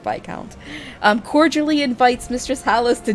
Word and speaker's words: Viscount: Yes, I think it's I'm pretty sure you pronounce it Viscount.